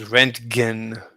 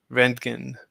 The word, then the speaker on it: Röntgen: What Everyone mispronounces his name. His name was Röntgen. Röntgen.